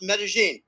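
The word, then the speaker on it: Medellín: Okay, Medellin, but it's pronounced Medellin.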